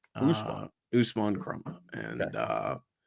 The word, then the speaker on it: Usman: It's Usman is the pronunciation of his first name. Usman.